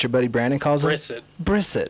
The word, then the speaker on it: Brissett: Jacoby Brissett's playing good ball for us right now. All right. I'm just glad you called Jacoby Brissett, because you know what your buddy Brandon calls him? Brissett.